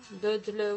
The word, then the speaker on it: doodle: Alors, j'expliquais l'autre fois qu'un doodle, hein, doodle ou doodle, ça se prononce comme on veut.